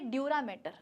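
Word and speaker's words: dura mater: ये मैटर बेटा वो केमिस्ट्री वाला, ये तुम्हारे साथ जो मसले होते हैं, मैटर चलते हैं, ये वो वाला मैटर नहीं है। यहाँ पर स्पेलिंग जो है ज़रा ध्यान दे देना। मैटर की स्पेलिंग है MATER, ठीक है।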